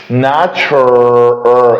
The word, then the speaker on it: natural: طب انا عندي هنا التي يو بننطقها صوت التش، ناتش، صوت التش. يبقى انا عندي السي اتش بتديني برضو نفس الصوت بتاع التي يو، يبقى التي يو بتنطق برضو تش زي السي اتش. فانا عشان كده قلتها ناتش، natural الار natural فر الار